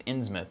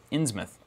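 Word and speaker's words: Innsmouth: Courtesy of chat, somebody told me how to pronounce Insmouth incorrectly, which was Inmouth the right way to do it. Inmouth. It sounds right. It sounds like the way that you should say it.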